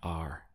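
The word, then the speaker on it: allí: we can't go now the word for there in Spanish is a just two syllables we have a and then this is Ye Ye so a means there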